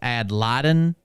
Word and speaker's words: ad litem: I guess Mariah said it's ad litem.